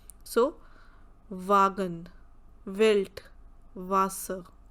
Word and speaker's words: Wasser: Same way when we talk about W, the sound is V, V. So Wagen, Welt, Wasser.